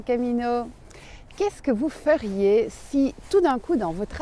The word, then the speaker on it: Sy: Me voici donc à la gare avec pas vraiment de plan, si ce n'est un nom de village qui m'est venu ce matin. Alors c'est le village de Si. Ça s'écrit S-Y et ne me demandez pas d'où ça vient, je n'en sais rien.